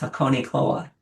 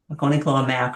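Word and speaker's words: Hakonechloa: And if you are ever concerned about how to say the name, this is named for Mount Hakonei in Japan. So it's Hakonei Cloa, Hakone Cloa.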